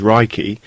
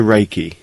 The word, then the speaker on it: Reiki: meaning universal life force although the proper Japanese pronunciation is Reiki it has been westernized to Reiki Rey means Universal omnipresent present everywhere at the